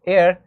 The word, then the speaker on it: heir: Even here in the example of heir, we know that h is silent, it's giving the sound of a vowel, so that's why we used an before it.